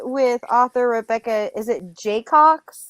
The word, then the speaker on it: Jaycox: Is it Jaycox? It's Jaycox, just like Jaycox. it's spelled.